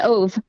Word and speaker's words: Ov: The band I'm talking about, by the way, and correct me if I'm wrong, if I'm pronouncing this incorrectly, Alter Ov Next. Yep, it's Ove.